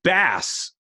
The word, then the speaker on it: bass: so on, but it's bass. Talking about ruining the name of the show, but it's bass to billfish, not bass like be-doo-doo-doo. So it's not like it's spelled the same way.